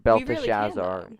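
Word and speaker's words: Belshazzar: Belta Shazar, sorry. Excuse me. Um, M Mr. You pronounced it right. Yes. Belt Shazar.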